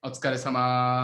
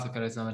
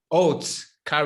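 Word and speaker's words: お疲れさま: Otsukare-sama. Otsukare-sama desu.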